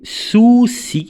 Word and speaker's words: soucis: La tigresse a des soucis, alors je ne vais pas prononcer le S, a des soucis avec les souris.